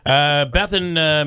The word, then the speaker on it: Bethan: Andrew's nice enough to give me a pronouncer on your first name, which isn't Beth, it's Bethan. But he won't give me the last name.